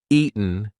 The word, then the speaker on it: eaten: you a little bit eaten eaten that tea is followed by a weekend sound so we are not going to say eaten we're going to say eaten eaten now listen if I don't use the gladle stop if I don't say any kind of T pronunciation Ian Ian that does not work it's eaten we haven't eaten in 3 days let's look at some